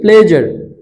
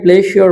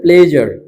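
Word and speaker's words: pleasure: gives my প্লেজার এটা আমাকে আনন্দ দেয় এই উচ্চারণটা একটু খেয়াল করি প্লেজার এই যে এস এস এর আগে যদি ভাওয়েল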